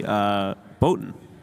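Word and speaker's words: Båten: Yeah, I would say Boten. Okay, that's pretty right. I think because that's actually like an O sound, the A with the circle over it.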